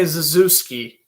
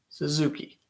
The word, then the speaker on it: Suzuki: suzuki wins the draw i got to say zazewski and i'll break that habit right away it is suzuki and i knew that